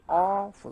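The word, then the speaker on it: awful: क्या होता है ये ऑफुल होता है, क्या होता है ओ वह नहीं, वह का साउंड एट्रीब्यूट किया हुआ नहीं तो क्या बनेगा ऑफुल, और फिर क्या लिखा है ऑकवर्ड, क्या है ऑकवर्ड।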